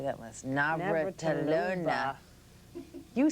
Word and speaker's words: Navratilova: magazine, up there with Martina, say that last, Navratilova. You said it wrong. Navratilova.